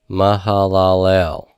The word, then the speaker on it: Mahalalel: e and then a lammott so this is pronounced ma ma Hallel Mahalalel okay so there you go look to the